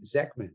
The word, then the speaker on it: Zechman: hope I say your last name right Megan zekman is that right you are right you are